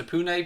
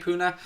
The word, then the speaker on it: Pune: supporters club of pune i think that's here pronounced pune puna in india an official liverpool supporters